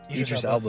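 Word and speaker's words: Elba: Oh, but but I don't know in all of Egyp Aba's movies, how do you say his name? Elbow. You said it right.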